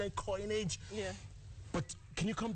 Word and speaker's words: Koinange: you know Larry forgot your name he can't pronounce coin Ang coinage yeah but can you come back tomorrow can